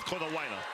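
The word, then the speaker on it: Konawaena: Konawaina. Yeah. You can add all those vowels in if you want to pronounce every one of them. That's what I was doing. But you can get away with Konawaina.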